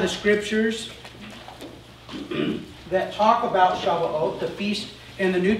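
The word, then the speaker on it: שבועות: Shavuot.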